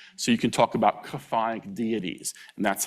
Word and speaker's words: chthonic: It's chthonic. Can you say that? Chthonic. Chthonic.